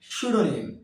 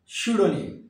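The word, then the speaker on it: pseudonym: যখন অতিরঞ্জিত করে বা অতিরিক্ত বাড়িয়ে বলা হয় সুনিম কি এটা সুডনিম যার অর্থ ছদ্দনাম ওম ওম এখানেও আমরা বিকে সাইলেন্ট রাখছি ওম নম ওম রেফর রেপোর্ট নয়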